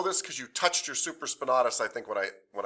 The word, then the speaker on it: supraspinatus: you might know this because you touched your supraspinatus i think when i when i said this